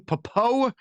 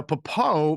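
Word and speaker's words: Pappoe: Inside linebacker Owen Popo is pushing through an ankle injury. Did I pronounce that correctly, guys? Popo? Yes, and he's a starter now.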